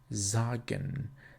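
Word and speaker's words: sagen: a sentence the letter has always the sound of a z so for example an example would be zagen zagen means to tell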